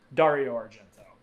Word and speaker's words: Dario Argento: you out and to tell you it it's pronounced Dario Dario Argento and I should know that and I also